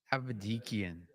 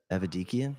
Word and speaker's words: Aidian: in we got how do you say your last name aidian aidian yep say it really fast aidian hey I had